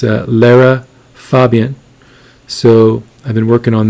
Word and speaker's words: Lara Fabian: So I'm doing another reaction here, and I'm going to pronounce her name correctly this time. It's Lara Fabian.